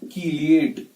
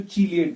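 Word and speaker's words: chelate: और जो ये कॉम्प्लेक्स है, कॉम्प्लेक्स को बोलते हैं मेटल कीलिएट। आप कीलिएट भी बोल सकते हो, चीलिएट भी बोल सकते हो, ऐसे भी प्रोनाउंस होता है।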